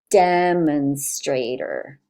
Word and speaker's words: demonstrator: the stressed syllable so the stress syllable is the first one and then there's secondary stress on this one demonstrator demonstrator we can listen